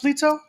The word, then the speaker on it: Plyto: Is it pronounced Plyto? Yes, you are. Plyto.